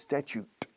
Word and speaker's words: statute: Y luego estatuto, estatuto de los trabajadores, statute. Añadiendo sonido de T y ya tenemos estatuto. Statute. Pero la T más la U en medio es chu.